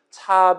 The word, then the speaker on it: char: 그 다음에 choice는 차 변수 이름입니다. 보통 저는 차라고 읽고 요 char은 일단은 캐릭터의 줄임말이라 봐주시면 좋겠어요.